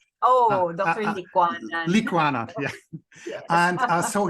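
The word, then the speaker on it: Licuanan: Al, and I think I always butcher his name, Liukanan, right? Sorry. I think I always mispronounce his last name. Oh, Dr. Liquanan.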